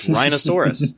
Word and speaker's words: rhinosaurus: and whatnot roseros rhinosaurus he says rhinosaurus so totally acceptable it's the Primus lexicon it's rhinosaurus that's how we say it right up there with